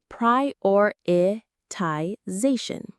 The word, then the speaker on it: prioritization: The main stress is on z prioritization.